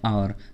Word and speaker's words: hour: से स्टार्ट होते हैं, जैसे कि आवर, HOUR, ये कॉन्सोनेंट से स्टार्ट होता है, लेकिन प्रोनाउंसिएशन करते समय हम इसको बोलते हैं आवर, जो कि क्या है एक वोवेल साउंड देता है, तो इसलिए हमने